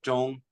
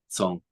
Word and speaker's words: Zhong: Zhong is the same as Zain, because especially the way I pronounce it, Zhong is Mandarin, but if you're in Cantonese or Shanghainese or one of the other dialects, it's Song, so it's closer to Zain.